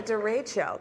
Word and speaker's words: derecho: A derecho.